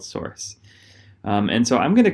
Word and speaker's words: src: Each module has a source directory, src, which we pronounce source, and that's where all the Java code goes.